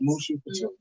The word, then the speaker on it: Mushou Couture: Okay, and so let me pronounce this right. Mushou Couture. Yes, Mushou Couture.